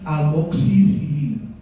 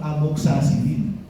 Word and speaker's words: amoxicilina: Tercera familia, aminopenicilinas, esa está fácil: ampicilina y amoxicilina. Ampicilina y amoxicilina. Ojo con amoxicilina, que a veces ustedes lo llaman amoxacilina. Suena horrible, eso es de persona iletrada. Amoxicilina.